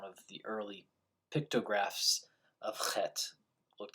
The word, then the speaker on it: Chet: Although it's transliterated in the prayer book as Heth, it's not pronounced Heth, it's pronounced Chet. A better transliteration would be Chet, with the CH being pronounced like the end of Johann Sebastian Bach, or the beginning of the word chutzpah, chutzpah.